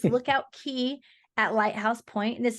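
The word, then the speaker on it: Lookout Cay: Lookout Key. I always make sure I need to pronounce it correctly because it's spelled C-A-Y, but it's Lookout Key at Lighthouse Point.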